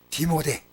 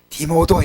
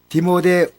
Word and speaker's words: 디모데: 디모데. 어릴 때는 그 발음이 잘 안 되니까 디모도 했습니다. 디모도. 어릴 때 그 발음이 잘 안 되더라고요. 그래서 디모데라는 발음이 잘 안 되고 디모도.